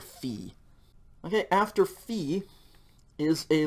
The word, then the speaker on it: phi: oopsilon we have a letter called fee okay fee and this is usually written ph it's spelled p h i fee but it's the ph as in like physics or phonics pretty much an english f sound you can think of